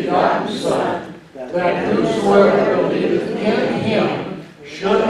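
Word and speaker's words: ἐν: And one sounds like our English word in, it's E-N, pronounced in.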